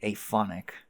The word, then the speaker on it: aphonic: Yeah, aphonic. Sorry, aphonic. The A is pronounced, but yeah.